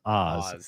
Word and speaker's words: Aussie: Andrew Law Art says last show no one in Australia pronounces Aussie with an S. Aussie is Oz. Aussie is Aussie.